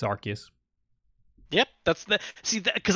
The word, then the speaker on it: Arceus: uh gave us uh the pronunciation pokemon legends arceus it's arceus yep that's the see